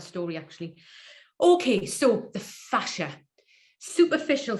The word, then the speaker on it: fascia: that were brothers and Jason fashion you and John fashion you remember one of them came out as gay so I'm just putting these things in your mind so you remember how to say the word it's quite a sad